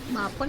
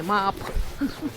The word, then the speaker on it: maple: Ayan mapple o maple? Mapple for me eh. Maple maple German. Ano bang tamang pronunciation yan? Maple.